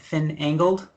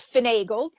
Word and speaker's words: Finagled: if i mispronouncing it finn angled it's finagled okay so finagle is